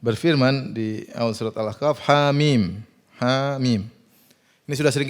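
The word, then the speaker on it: حم: Mim Alif Lam Mim HAM mim dibaca ha mim Yasin jangan dibaca Yas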